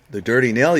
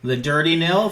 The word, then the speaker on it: The Dirty Nil: by the dirty nil is that how you say it the dirty nail yeah yeah the dirty nil thank you sorry my timing was